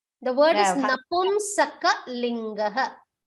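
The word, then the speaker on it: नपुंसकलिङ्ग: Bhagini, Namusakalinga. The word is Napumsakalinga.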